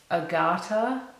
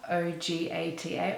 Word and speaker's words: Ogata: I mentioned city names, character names, so apologies in advance if I mispronounce anything. Because I'm about to introduce two of the main characters. Ogata, O-G-A-T-A, Ogata, and his fiancée Emiko.